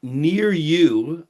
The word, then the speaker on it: Niryu: He is the CEO of Nir-Yu. I like how you pick names that phonetically are just so easy.